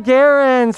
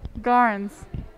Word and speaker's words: Garns: people it's megan megan garens how are you doing you say my name wrong i know i've said her name wrong for the past eight years how do you supposed to say it garns i knew that i